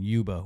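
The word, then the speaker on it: Yuba: uh which the sorry the uba River that's the way the Nissan pronounce it it's it's written uba y UA on all maps and everything but it's it's really uba uba SEO is is the way it was pronounced in the Nissan so that's why I'm going to pronounce it so the uba is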